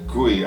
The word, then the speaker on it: Qui: Another place I'd recommend is the Gui, I believe is how it's pronounced. It looks like Kui because it's spelled Q-U-I.